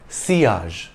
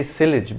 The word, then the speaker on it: sillage: perfumers you could say sillage but it's better to follow the French pronunciation the Double L is pronounced like y the word means wake